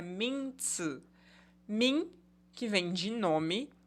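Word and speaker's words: 名字: O substantivo em chinês, a pronúncia é minzi.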